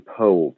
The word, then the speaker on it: Powell: He would have pronounced his name Powell, though rather confusingly.